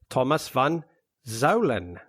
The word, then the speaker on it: Thomas van Zuijlen: this week joining us from the netherlands is thomas van zalen uh did i pronounce your name correct 100 all right well